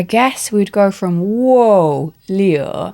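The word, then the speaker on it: 六: 6 is Leo, which apparently is a lucky number. It sounds very much like Leo to me. It's falling tone on the U.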